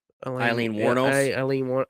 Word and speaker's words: Wuornos: Yeah, just always whenever you want to think of how to pronounce her name, just think of a wino.